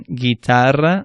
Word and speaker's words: guitarra: That U doesn't make a sound, but it makes it so that G is a hard sound, as in guitarra or pague.